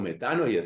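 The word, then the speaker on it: μετάνοια: judea legon diciendo metanóyete la metanoia metanoia queso metano ya sería la pronunciación correcta metano ya Qué es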